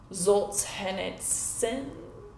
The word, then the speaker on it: Solzhenitsyn: Because sun at the end, sun. S-Y-N. Yeah, sin.